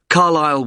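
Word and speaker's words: Carlisle: i s l e you don't pronounce the S carile way and that's in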